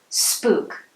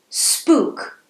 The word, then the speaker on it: spook: do to scare someone notice how i pronounce this word spook it may look like other words you know like book look hook took but its pronunciation is different say it to yourself spook great let's spook him